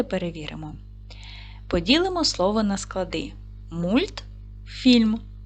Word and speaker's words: мультфільм: поділимо слово на склади мультфільм наголос падає на другий склад м твердий приголосний уголосний